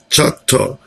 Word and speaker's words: Choctaw: tribes: Cherokee, Choctaw, Chickasaw, that's Choctaw. The pronunciation is a little different than the spelling.